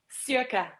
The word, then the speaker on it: Cirke: And our guest is Cirque Cherokee, and I know I'm saying it wrong. Cirque, so tell me how you say your name. Circa.